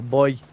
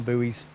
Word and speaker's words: buoy: or a boy depending on how you pronounce it where you're from. Where I live, we call them boys, but I know in some parts of the world you call them buoys, zombie be clear as well, guys.